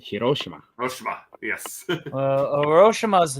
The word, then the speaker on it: Hiroshima: not yeah Hiroshima hirosima it's not hirosima they pronounce it Hiroshima hirosima yes roshima is